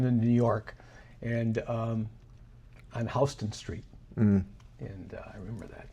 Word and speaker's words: Houston: New York, and on Houston Street. And I remember that, because it's not Houston. That's how they pronounce it.